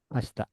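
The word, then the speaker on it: ました: Masta. Masita nulisnya dibacanya Masta.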